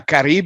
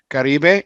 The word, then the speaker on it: Caribe: show so it's uh caribe if you wanna if you wanna pronounce it uh somewhat as correctly as possible caribe and uh probably rolled my r's too much because it's not the double r but i i still